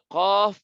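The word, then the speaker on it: ق: তো কফ পড়ার সময় তো জিহ্বার গোড়া এমনি উপরে উঠা যায়, তখন খোদ বখোদ মোটা হয়ে যায়। কফ আর জিহ্বার গোড়া থেকে একটু আগে বাড়ায়া কাফ। যখন একটু আগে বাড়ায়া পড়বো তখন আর জিহ্বার গোড়া উপরে উঠানো সম্ভব না, তখন এটা পাতলা হয়ে যাবে। কাফ। তো এই দুইটার মধ্যে পার্থক্য কি? যে কফ মোটা, কাফ পাতলা।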